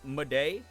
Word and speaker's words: Madej: If you've not seen the YouTube channel Watcher, it's Ryan Bugera and Shane Madej.